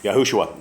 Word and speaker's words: Yahushua: Yeah, Yahushua, like Joshua with a Y.